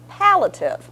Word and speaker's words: palliative: to make sure I was right and it's pallative with The Shard a so we've cleared that